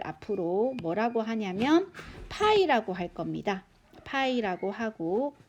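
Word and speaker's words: π: 하고 이렇게 그리스 혼자입니다 4 이것을 우리 나팔이 라고 읽어요 앞으로는 원 주유를 우리는 파이 라고 하고 요기 5로 이렇게 표시하겠습니다 됐나요 4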